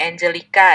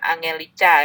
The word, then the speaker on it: Angelica: Oke, Angelica ya, berarti bukan Angelica ya. Saya bacanya Indonesia banget gitu.